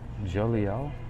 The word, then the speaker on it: Jeliel: And the angel is Je Jeliel, Jeliel.